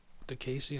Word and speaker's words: Diakiese: Diakiese, I'm pretty sure that's how you pronounce his last name.